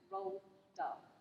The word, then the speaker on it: Roald Dahl: It's a funny spelling, okay, but you pronounce it Roald Dahl.